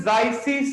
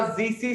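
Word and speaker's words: Zeise: इसे बोलते हैं जाइसी सॉल्ट। क्या बोलते हैं? जाइसी सॉल्ट या जीसी सॉल्ट, वॉटेवर, दोनों ही प्रोनाउंसिएशन ठीक है।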